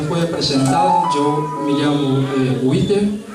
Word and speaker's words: Witter: Eu me chamo Witter, é um pouco complicadinho. Como? Amém? Witter. Witter. W, la I, la T, la E e la R. Bueno, está pronunciado. Witter.